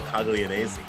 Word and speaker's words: Coglianese: Paulie Cogs, Spicy Boy, Jonathan Rodriguez, Coglianese. That's how I pronounce it, at least. Paul Coglianese.